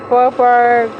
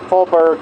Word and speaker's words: Faubourg: Faubourg.